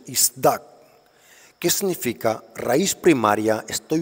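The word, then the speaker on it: צָדַק: La palabra purificado en el hebreo es isdax, así se pronuncia, isdak.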